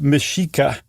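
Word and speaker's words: Mexica: the way also um the Aztecs were called the meshika and that's that X is a s h e in that case so the Axolotl or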